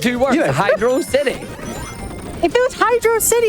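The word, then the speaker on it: Hydrocity: It's hydro city. Hydroity is not a word.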